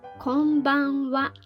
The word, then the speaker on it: こんばんは: written like this however we need to pronounce it konbanwa repeat after me